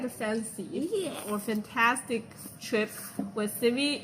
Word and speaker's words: 饭: No, fan. F-A-N. Fun. F-A-N. The word F-A-N. How do you pronounce the word F-A-N?